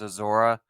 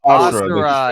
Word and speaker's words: Asura: to do Kratos versus Azora. Azora, is that how you say his name? Azora? Asura. Asura. It's Asura.